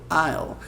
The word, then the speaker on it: I'll: I'll. Ele fica uma pronúncia assim bem estranha de fazer, mas fica assim. I'll find out. Você usa bem o L lá, a língua lá no céu da boca.